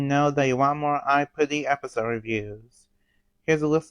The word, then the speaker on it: Aipri: I say I puty because the Japanese way of saying it, it's pronounced I put, but in English most people will say I pre.